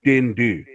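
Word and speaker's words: dyn du: Well, no, because the Welsh translation for black man is spelled D-Y-N-D-U, dindu.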